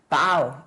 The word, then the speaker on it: bow: 다음에 이 BOW는 오늘 우리 수업의 맨 앞부분에 Cupid 나오면서 rainbow, bow, O라고 읽었죠? and arrow를 봤는데 그때는 O인데 여기는 bow 이렇게 읽으셔야지 돼요.